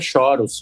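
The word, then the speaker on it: chorus: A pronúncia correta é choros, pra quem não sabe, tá chegando agora, choros. É pedal de coros, não, choros, CH, choros.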